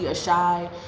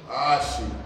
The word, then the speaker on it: Aashi: Aashi, Ashi, whatever the fuck. I don't know how to say it. It's Aashi. Aashi. Yes. Aashi, say it right.